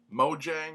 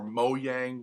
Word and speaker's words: Mojang: by Mojang it's either people say it two different ways Mojang which is usually i pronounce it or mo yang which i guess is this is the swedish pronunciation which is where mojang is that's where mojang is it since we it's a Swedish company but either mojang mo